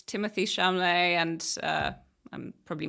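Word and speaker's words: Timothée Chalamet: for it first before I commit uh it's Timothy shumlee and uh I'm probably mispronounced his name um perfect oh you got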